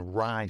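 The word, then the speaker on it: Rai: massive amounts of wealth, read up on rye stones. It's spelled R-A-I stones.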